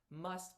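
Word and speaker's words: mast: which it is there's the word must pronounced must but spelled m-a-s-t and that's for the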